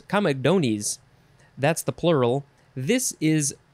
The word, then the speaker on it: comedones: plural is com how do you say this comedones comedones that's the plural this is a latin word